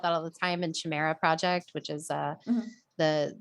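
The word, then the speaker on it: Chimaera: and and i think some people pronounce it chimera or whatever but we pronounce it chimera c-h-i-m-a-e-r-a the chimera project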